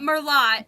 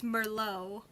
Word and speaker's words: Merlot: what do people say Merlot yeah they they pronounce the T yeah it's it's not Merlot it's Merlot it's there's no tea at the end you